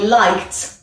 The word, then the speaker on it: liked: au prétérite et bien ça se prononce comme ça i liked comme un T c'est donc j'aimis dans